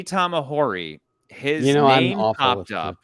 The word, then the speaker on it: Tamahori: and Lee tamahori and you keep saying tomorrow which is hilarious Lee Tom ahori his you know pronunciations